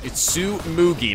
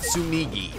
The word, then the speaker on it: Tsumugi: Also, by the way, you guys pointed out, it's Tsumugi, not Tsumigi.